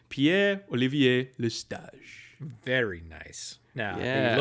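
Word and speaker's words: Pierre-Olivier Lestage: Now, so if I was going to do like full on French pronunciation, Pierre Olivier Lestage.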